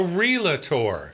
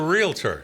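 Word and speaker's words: Realtor: estate, okay, she is not a realator. So, it's not three syllables. She's a real tour. It's two and that's one I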